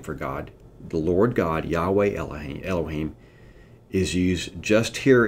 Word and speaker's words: Yahweh: In front of Elohim, Moses inserts the word Yahweh. Okay? Let me spell it in English for you.